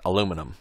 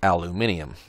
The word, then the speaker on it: aluminium: Americans pronounce that aluminum. I'm not sure exactly how we spell it, but I know my British friends pronounce it aluminium.